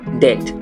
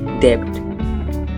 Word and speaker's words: debt: word number eight debt here the letter B is silent it's debt not debt for example I have